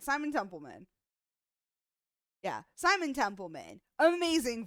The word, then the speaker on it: Simon Templeman: I pronounce his name I always say his name wrong Simon Temple that's right Simon templeman yeah Simon Temple man amazing voice actor such